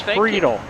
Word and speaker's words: Friedel: I'm going to correct you on one. That's Friedel.